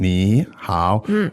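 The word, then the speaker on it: 你好: pronounce them actually okay so when you put the two3 together it would sound very labored wouldn't it it would say and yeah there is almost impossibility to pronounce two distinct third tones uh without breaking them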